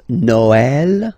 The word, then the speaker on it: Noël: The last one, tréma, well, basically it's quite rare, and the tricky thing is that in some cases you will have to pronounce it like eh, okay? Like, for instance, Noël, okay?